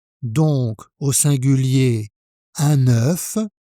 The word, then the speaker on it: un œuf: C'est la même prononciation que le chiffre 9, avec le son E. 1, 9.